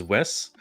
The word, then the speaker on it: 7W: 7 would probably prefer his name to be pronounced as Wes.